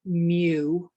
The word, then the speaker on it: mu: the left of it this is pronounced mu like mewtwo from pokemon uh it's spelled mu